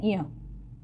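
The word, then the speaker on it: ञ: च, छ, ज, झ, इया, इसको बोलते हैं इया।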